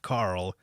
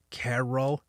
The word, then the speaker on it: Carol: carl ends up saying my name is not carl it's carol i was like oh